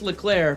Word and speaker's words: Leclerc: at black lurk it's pronounced LeClair but it's spelled Leclerc ok i'm on twitter